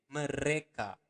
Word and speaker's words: mereka: Remember to pronounce the R clearly. Mereka.